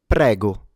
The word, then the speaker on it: prego: This is pronounced prego. PGO. PGO. All right. So, let's examine it. We have a rolled R, an open E in the middle. That's where the stress goes.